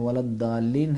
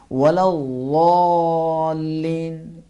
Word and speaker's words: ولا الضالين: کہ ولا الضالین ہے بعض لوگ کہتے ہیں ولدالین ہے، ولدالین بھی ٹھیک نہیں ہے، ولدالین بھی صحیح نہیں ہے، بلکہ اس کا اصل تلفظ اس انداز میں ہے ولضالین، یہ بھی ٹھیک ہے، ولضالین بھاری کر کے